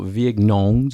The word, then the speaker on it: vigneron: Social vignerons.